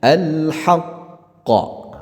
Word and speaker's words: الحق: Jadi bacanya al-haqq. Ya, ditahan dulu baru dilepaskan.